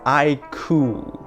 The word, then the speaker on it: iQOO: to pronounce the name it's pronounced i cool so like I cool but without the L I cool apparently yeah